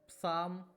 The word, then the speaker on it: psalm: आप साम, PSALM क्या पढ़ेंगे, शाम पढ़ते हैं।